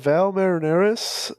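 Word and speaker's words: Valles Marineris: a little bit about this place yeah the Val marineris uh that's the that's the pronunciation in the audio book don't add me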